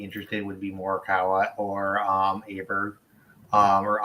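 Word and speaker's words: Åberg: would be Morikawa or Aberg or Auberg, whatever. I can't remember how you pronounce it, but Auberg. Apparently. Auberg. There we go.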